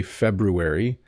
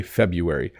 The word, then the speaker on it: February: be funny okay um but most of the time people will say February you will sometimes hear people say February but it's February 99% of the time if you hear someone say that month they will say February even though there's an R there it's kind of like um we just decided it was too hard to say the R so we say February penguin I don't know